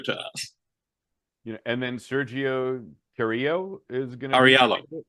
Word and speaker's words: Carrillo: Carriallo. Sorry. With the Spanish, you don't pronounce the double L. With the Italian, you do. So I did. I went with the Spanish pronunciation based on location.